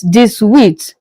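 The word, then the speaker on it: dix-huit: 18 in French is this width.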